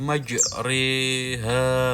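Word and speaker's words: مجريها: Wa qala rakabu fiha bismillahi majriha wa mursaha. Untuk cara membacanya yaitu dengan mengganti bacaan ro menjadi re, agak ditekan dan disamarkan.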